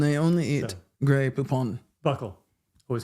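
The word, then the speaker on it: buccal: this is deeply controversial it's the buckle cheek Buckle the cheek that's what she says too yeah Buckle some people say buul who says b b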